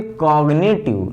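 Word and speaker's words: cognitive: अब देखो यहाँ पे कॉग्निटिव, इसको हमेशा कॉग्निटिव पढ़ा जाता है, मतलब जी का प्रोनाउंसिएशन यहाँ पे होता है।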